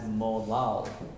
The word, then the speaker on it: molal: 2.92 Little M and you pronounce Little M as molal m-o-l-a-l m-o-l-a-l so instead of saying moles